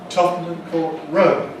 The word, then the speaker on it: Tottenham Court Road: When London was being built, there was a farm called Tottenham Court, and that had main stress on the court. Well, that farm disappeared hundreds of years ago, but leading to it, where it was, there is now a road, a well-known road, called Tottenham Court Road. And we see the same principle, that Tottenham Court, when it's followed by road, then becomes Tottenham Court Road, Tottenham Court Road, Tottenham